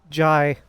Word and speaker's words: Jai: By the way, Mac, yeah, we've been saying Jay's name wrong this whole time. Uh, what's name then? Jai.